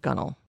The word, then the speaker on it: gunwale: side of the boat it is spelled gunwale it is pronounced gunnel so I am told